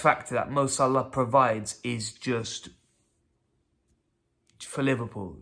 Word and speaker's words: Salah: to co pal and The X Factor that MOS Allah provides is just for Liverpool you know what